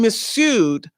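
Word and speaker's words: Mifsud: missud this is when missud the f is silent this is when missud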